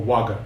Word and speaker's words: vagga: kaga a t a which means eight okay Vaga means book or waga it should be pronounced means book um so it's the ATA